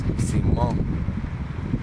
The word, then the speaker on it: Simón: But you say it like this, Simón. Like You gotta do it that that Pacino chin.